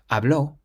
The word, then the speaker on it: habló: But the second one has an accent on the O, so we say habló.